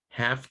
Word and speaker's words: half: Now the L is not pronounced in these words.